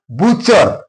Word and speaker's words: butcher: Butcher, T is followed by CH here, so T is silent here.